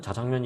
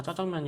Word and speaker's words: 자장면: 보면 메뉴판에 다 이렇게 분명히 이제 구보 사전에는 자장면 이라고 해야 된다 장면은 자장면 의 잘못된 적 잘못된 것이다 라고 했는데 음식점에서는 타 장면이나 쓰고 사람들도 왠만한 사람들은 타 짜장면 이라고 읽는다 는 거예요 그렇게 쓰기도 하고 아